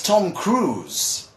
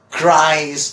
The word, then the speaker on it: Tom Cruise: something like that well the name of this man is Tom Cruise right that's a cruise it's not cries or Crees or something like that it's Tom Cruise okay but what about